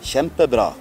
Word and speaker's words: Kjempebra: Kjempebra. Benissimo. Kjempebra. Oppure, ecco, KJ, sì. KJ. E MTI. Bra. Kjempebra. Si legge sh.